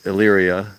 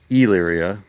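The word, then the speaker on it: Elyria: spelling e l y r i a it's pronounced Elya some people pronounce it Ela I go with the soft e here's another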